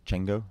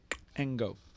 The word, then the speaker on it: Cengo: How do you think you pronounce that? Chengo? Nope. It's a Zulu name. You've got to do a click. Engo.